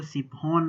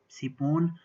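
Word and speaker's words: Psiphon: ये वाली वीपीएन, इसका नाम दोस्तों सिफोन नाम है इसका, पी खामोश है, इसका साइलेंट है, सिफोन 3।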